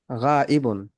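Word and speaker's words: غائب: গায়েব আরবিতে হলো এরকম উচ্চারণ, গাইবুন।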